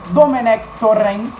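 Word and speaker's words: Domènec Torrent: Agora falando um pouquinho do Mengão, que está muito próximo de anunciar o seu novo técnico, Domenech Torrent, que esse é o certo.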